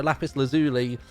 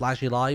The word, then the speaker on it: lapis lazuli: that for years uh also lapis lazuli is how I pronounce it but it's supposed to be pronounced last July but I think that